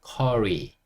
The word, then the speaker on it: curry: 그래서 사실 한국에선 카레라고 하지만 영어로 할 때는 curry, curry 이렇게 하시면 돼요.